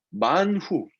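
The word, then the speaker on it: מן הוא: 그러니까 만후 이제 세 글자인데 이 맨 끝에 아는 묵음이에요. 그러니까 만후.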